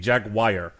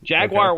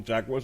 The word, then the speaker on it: Jaguar: I have okay listen I've recognized throughout my life you know certain mispronunciations of things jaguar was not one of them until tonight so let's go ahead we'll put that out there Jaguars the first time I've ever said to myself you know maybe I have been pronouncing that wrong I won't believe no